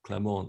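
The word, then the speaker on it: Clément: It's pronounced Clement in French.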